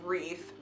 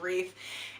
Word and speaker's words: wreath: down for him and being like wreath it's pronounced wreath I know like it looks confusing but it's pronounced wreath and and he was like oh okay thank